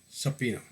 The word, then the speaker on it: subpoena: the purpose of Justice subpoena s-u-b-p-o-e-n-a B is silent b b is silent